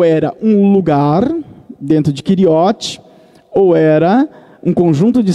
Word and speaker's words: Keriote: Keriote é uma palavra hebraica que, para nós, a pronúncia nossa seria Keriote, que na verdade era uma cidade.